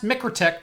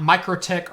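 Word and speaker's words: MikroTik: which by the way it's pronounced mickr tech not micro tech or micro tacky or but I really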